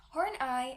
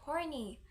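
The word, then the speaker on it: Horney: Karen horn ey her last name should be pronounced as horn ey and it's not horny she was born in blankin Germany a small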